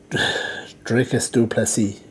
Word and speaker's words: Dricus du Plessis: Dricus du Plessis, that's how you pronounce it.